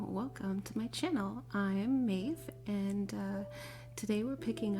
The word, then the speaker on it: Maeve: myself for even saying my name but it's maeve that's uh m a e v e and